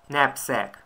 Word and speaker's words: knapsack: Англійські слова, де буква K не вимовляється. Відео номер 3. 11 слово – лицар. A knight. 12 слово – здібність. Neck. 13 слово – рюкзак. Knapsack.